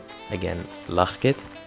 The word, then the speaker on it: Lachkid: actually pronounce it well it is a dutch name and dutch is actually a very difficult language to learn the way that i pronounce my name is lachit and i chose for